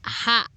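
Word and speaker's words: は: kita bahas partikel-partikel tersebut yang pertama ha bisa juga dibaca WA yang dibaca WA ha tulisannya yang juga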